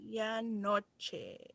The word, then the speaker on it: medianoche: Medianoche.